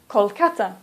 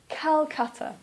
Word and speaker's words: Calcutta: Hanoi or for example Calcutta please don't say Kolkata please say Calcutta the reason that we